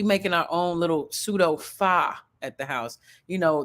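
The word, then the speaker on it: pho: I'm saying it right it looks like faux but it's not faux it's far anyway it's like these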